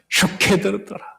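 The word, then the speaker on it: שָׁקֵד: 살구나무 발음이 바로 지킨다라는 샤케드더라.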